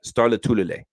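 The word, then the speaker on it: Lotulelei: Let's pronounce it like this. People have a hard time. Star Latulele. Okay, it's that simple.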